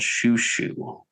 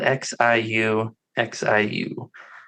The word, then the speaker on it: Xiu Xiu: This next one, I don't know if you've ever heard of a band called Xiu Xiu. Xiu Xiu. I don't think so. And that's spelled Xiu Xiu.